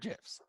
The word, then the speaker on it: GIF: It's one of my favorite GIFs. But GIFs, the thing is GIFs, like GIF, hard G.